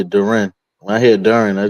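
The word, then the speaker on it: Durant: be on subject, but y'all pronounce my man Duran, but uh it's uh Duren where I'm from. That's how we say Duren.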